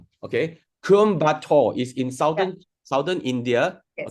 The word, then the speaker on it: Coimbatore: Teach all of us how to pronounce this word. Com. It's Coimbatore. Okay. Coimbatore is in Yeah.